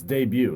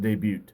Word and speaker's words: debut: freaking Jr nobody can you know it's debut it's it's not debut the tea is silent Lois I'm sorry I'm